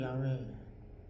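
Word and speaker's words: 야훼: 여호와라고 적지 않습니다 그래서 여호와라는 것은이 번역 상으로 발음이 그렇게 잘못 나온 거지 본래는 야외 그렇게 이해하시면 되겠는데요 스스로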